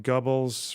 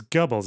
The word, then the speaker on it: Goebbels: Likening Israel to Nazi Germany in a UN event, he accused the country of lying just like Goebbels, referring to Joseph Goebbels as chief propagandist of the Nazi Party.